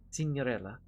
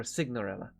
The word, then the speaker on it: Signorella: there is evelyn signorella s-i-g-n-o-r-e-l-l-a cinderella or cignorella depending on your pronunciation uh her official title